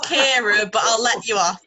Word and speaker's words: Kiara: Kiara. Do we have Kiara here? Yes, I am here. Hello. Oh, hey, hello. It's pronounced Kira, but I'll let you off.